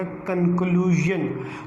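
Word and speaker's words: conclusion: अब इस you alphabet के वजह से हम इसको क्या पढ़ेंगे? यन पढ़ेंगे, ये बन जाएगा कंक्लूजन।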